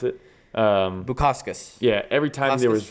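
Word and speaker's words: Bukauskas: How you pronounce it? Bukaskas.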